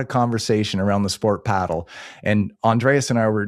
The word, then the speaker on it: padel: Is it paddle or is it Pedell?" And I said, I've got the official word. It's paddle.